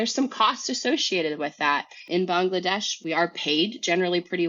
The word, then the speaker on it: Bangladesh: country is pronounced typically Bangladesh instead of Bangladesh because it's not Bengali it's Bangla and so in February